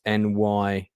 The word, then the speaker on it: Nye: Just by the way, just to clarify, Anna Nye, and I'm not sure how you pronounce her surname. It's Nygh, who plays Shirley Hicks.